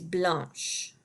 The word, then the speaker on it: blanche: So the masculine form for white is blanc, blanc, and the feminine form is blanche, blanche. And that makes an SH sound at the end, blanche.